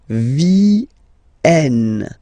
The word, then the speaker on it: vienne: And the rule in French is that when you get this and a double vowel after, you will have to pronounce this like eh. Alright? So, vienne, vienne, vienne, vienne.